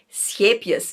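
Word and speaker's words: Scheepjes: This is how you pronounce it. Scapius.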